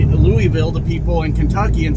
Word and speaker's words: Louisville: Said, hey, you have to say it Louisville, which is fine. because Lewis and Louis are both spelled the same, and we pronounce that.